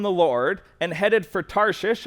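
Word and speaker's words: Tarshish: Lord and headed for tares or tarish I'm going to call it tarish there's different pronunciations um the one that I think is correct is tari so he went down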